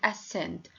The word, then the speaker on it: ascend: In question number 1, scissors, scent, science, crescent, descent, and ascend.